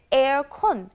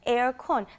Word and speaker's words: 에어컨: it's cut short because it's really hard to pronounce for Korea's air conditioner so they say air con air con they also say remocon remote cool that means